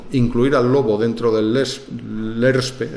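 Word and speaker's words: LESRPE: al lobo dentro del LERSPE, es muy difícil de pronunciar, por eso la mayoría de la gente dice lespre, pero es l'ERSPE, eh realmente no es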